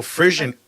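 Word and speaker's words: frisson: what Frisian means so frissian it's actually it's a French word Frisian is a French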